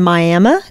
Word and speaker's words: Miami: I've been serving the First United Methodist Church in Miami, Texas. It's pronounced Miami. The people there insist. Really? It looks like Miami, but I learned Miami.